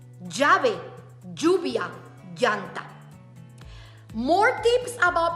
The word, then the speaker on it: llave: They are 2L, but they don't sound like a L. They sound like sometimes like a J, J, or like a Y, J. Llave, lluvia, llanta.